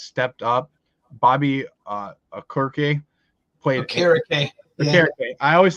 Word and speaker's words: Okereke: Okereke. I always say it wrong. So Okereke.